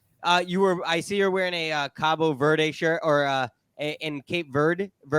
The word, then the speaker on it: Cabo Verde: so in Portuguese, you say it Cabo Verde. Okay. But with the English, they've changed it over time.